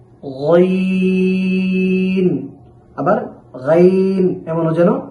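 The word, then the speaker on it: غين: পড়েছি এখন আমরা টাকে মোটা করে উচ্চারণ করতে হবে তবে দুই ঠোঁটকে কোনভাবেই গোল করা যাবে না গাইন আবার গাইন এমনও যেন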